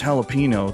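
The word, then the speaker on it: jalapeño: no, Ricky, it's pronounced jalapeno. The J's silent.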